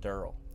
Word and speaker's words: Deryl: then work de ryl which it's actually pronounced Durrell Durrell der barrel down